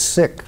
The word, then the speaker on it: Sikh: literally means student ok so it's sick not seek because I've heard that